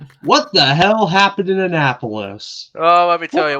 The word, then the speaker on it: Annapolis: crap show back in Annapolis. Yeah. Yeah. It's called Annapolis, not Annapolis. If I hear that incorrect pronunciation one more time, I'm going to slap you.